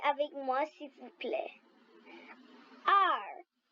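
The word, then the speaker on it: 二: 2 en chinois, ça prononce comme la lettre R en anglais. Le ton doit baisser. Parlez avec moi s'il vous plaît. R, R, R.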